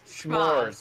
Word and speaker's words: Schmoz: S as in SCHMO, like schmo, only with a Z on the end. They're called Schmoz.